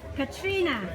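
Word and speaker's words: Catrina: explain this statue here they are called the curtina and I'm not pronouncing that correct how do you pronounce it Lori Katrina Katrina and what they are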